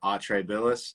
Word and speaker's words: Atrae Billis: guitar player for Atrae Billis.